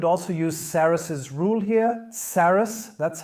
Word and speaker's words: Sarrus: Sarrus, that's how we always pronounce it.